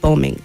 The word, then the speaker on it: bombing: so the word bombing when you pronounce that word the B is silent you don't say bombing okay bomb and bombing that's the word I